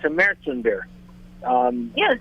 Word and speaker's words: Märzen: And we have to have a little lesson for some people because they call it Marzen. Marzen's incorrect pronunciation. It has the two dots over the A.